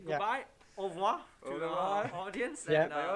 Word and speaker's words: au revoir: So you say au revoir. Au revoir. I can never do that. Au revoir. Au revoir. All right. So we have to say goodbye. Au revoir to our audience.